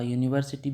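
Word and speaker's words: university: आपका हो गया गलत ये है यूनेनिमस इसका यूनिवर्सिटी भी like यूनिवर्सिटी is also you this is नॉट अ वो वोवेल साउंड नहीं है यूनिवर्सिटी में ठीक है ये अ यूनिवर्सिटी होता है।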